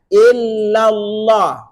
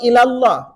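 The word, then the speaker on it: إلا الله: Ikuti. La ilaha illallah. Jangan bilang ilallah.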